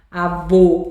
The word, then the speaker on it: avô: Porque aô, tá vendo? O avô. Parece que a gente tá com o nariz entupido ou então esse assentinho circunflexo deixa algo mais grosso, tá? Mais nariz entupido, avô.